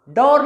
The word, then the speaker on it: door: Door नहीं कहेंगे, door. Shut the door, open the door.